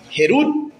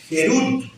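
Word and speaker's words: חרות: Pero la palabra libertad eh en hebreo es la palabra jerud. Eso se escribe con h. Así. Libertad. Jerut.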